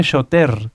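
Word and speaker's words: שׁוֹטֵר: Y shoter se escribe shoter con R, pero recuerden que la R en el hebreo se pronuncia como una G, shoter.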